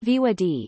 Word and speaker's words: voir dire: to the courtroom to participate in voir dire pronounced VOD in French and defined as the oath to